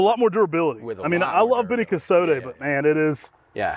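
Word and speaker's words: Beni Kosode: But one thing, if people have seen the cultivar Beni Casote, as it's pronounced, comes out like really bright pink, but it's very difficult to keep alive.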